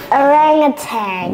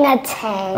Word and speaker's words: orangutan: I didn't even know how to pronounce it, but now I do. All right. Orangutan. Wow. Once again. Orangutan.